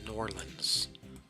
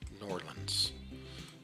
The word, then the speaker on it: New Orleans: It's pronounced Norlands. Norlands.